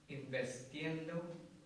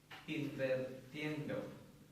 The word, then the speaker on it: invirtiendo: Investiendo. What is that? Invirtiendo.